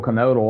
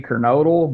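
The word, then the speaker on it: Kernodle: I think even the commentators were were alternating kernel canodal. And I've heard it said both ways over the years. I looking at it phonetically, I would say Kernodal, but you know, I think I think you're pretty much free to choose at this point.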